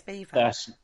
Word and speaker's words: Belvoir: Yeah, but we say it as Beaver.